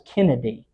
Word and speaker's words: Canada: third great-grandfather his name the way it's written is Canada but the way it was uh pronounced was Kennedy so his name was